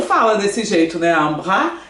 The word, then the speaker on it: bras: Un bras é um braço. Ça coûte un. Olha aqui, pronúncia. Un. Tá certo? Un. Bras, que eu não falo esse S.